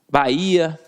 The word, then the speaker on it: Bahia: Bahia, faísca, baú, balaústre. E repara a pronúncia. Ba e a. Viu que eu separei?